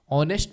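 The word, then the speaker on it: honest: Krishna is अब ऑनेस्ट ऑनेस्ट में H silent होता है तो इसलिए यहां पर एन लगता है ही इज एन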